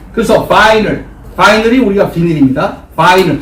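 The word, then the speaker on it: vinyl: 여기 보시면 자, 비닐인데 한국 사람들은 비닐이지만 이 발음은 원래 바이닐이라고 하는 거예요. 이 I가 I 발음이 나요. 그래서 바이닐이 우리가 비닐입니다.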